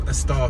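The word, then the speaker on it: Estaugh: It could be Estall, but I think that G is silent. So Estall Street.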